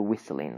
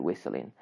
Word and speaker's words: whistling: ing toward it becomes whistling right the T is silent so whistling right whistling so I have a